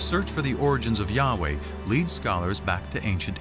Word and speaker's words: YHWH: So his title, in a sense, was God, and his name was these 4 letters, which in English would be YHWH, which we think were probably pronounced something like Yahweh.